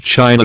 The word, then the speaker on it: Qin: bc kin dynasty the qin dynasty from which china derives its name kin is pronounced chin was the first official empire in